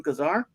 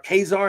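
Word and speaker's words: Ka-Zar: was a great take on Kazar or kesar however youone like to say his name yeah I say Kazar but I don't know if that's right I always used to say kesar so I still do but some say it's Kazar but whatever you know yeah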